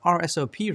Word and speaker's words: RSOP: When you're troubleshooting group policy, you'll often compare an RSOP report, pronounced RSOP, to what you expect to be applied to that computer.